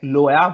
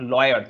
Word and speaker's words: Loire: They will say that something like Loya Valley. Loya, it's not lawyer.